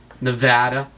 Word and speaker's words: Nevada: that to joe biden nevada that's how that's pronounced by the way i was told by the news all right arizona arizona